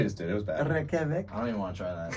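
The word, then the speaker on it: Reykjavík: And How do you pronounce that, the capital? Reykjavik. Because I was trying to, Reykjavik. Hey, actually, that was pretty good.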